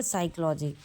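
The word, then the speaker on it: psychology: अब देखेंगे next question, which is silent in the word साइकोलॉजी। कभी भी कहा है कि पी साइकोलॉजी, ये कह रहा है कि विच letter is silent in the word साइकोलॉजी। हम ये बराबर साइकोलॉजी पढ़ रहे हैं, कभी ये कह रहे हैं कि पी साइकोलॉजी, तो आंसर क्या है पी।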